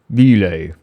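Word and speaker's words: !Bile: And he says, he explains, my name is Ile. Like, because the exclamation point is a tongue click.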